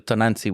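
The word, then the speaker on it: Tonantzin: Because it's almost like and I think La Santa Muerte, I think it's been like just what they did to, I think the correct pronunciation, Tonanzi, which is like, that's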